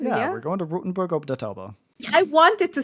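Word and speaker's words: Rothenburg ob der Tauber: we're going to Rotenburg ob der Tauber. I wanted to say it. Thank you. Okay, say it. No. Pronounce it. No. I would like to hear your pronunciation of the town. Rothenburg.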